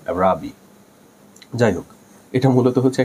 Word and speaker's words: Araby: আজকের গল্পের নাম হচ্ছে আরাবি, এটাকে অনেকে বলে অ্যারাবি, ব্রিটিশ প্রোনাউন্সিয়েশনে আরাবি, আমার কাছে আরাবি বলতে সুন্দর লাগে, তবে এটা সঠিক উচ্চারণ অ্যারাবি।